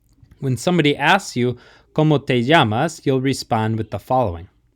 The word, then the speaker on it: llamas: when you're pronouncing it the double l sound in spanish makes kind of like a ya ya almost like a y sound in english so komo te llamas when somebody asks you llamas you'll respond with the